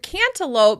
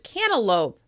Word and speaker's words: cantaloupe: The fruit "cantaloupe" may be pronounced "cannaloupe, cannaloupe."